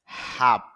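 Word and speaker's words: half: নাপিত হাফ অর্ধেক হাফ এখানে দীর্ঘ সাউন্ড হবে কেন আ সাউন্ডের পরে দুইটা ফোটা দেওয়া হয়েছে যেটা কলন সিম্বল এটা দেওয়ার মানে হলো একটু দীর্ঘ উচ্চারণ করা এজন্য উচ্চারণটা হবে হা আর এল এর উচ্চারণটা এখানে হবে না তাহলে তার বাংলা অর্থ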